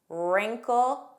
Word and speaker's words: wrinkle: Wreck, wrinkle, wrestle. The beginning WR spelling has a silent W pronunciation. So make sure you begin on that R sound.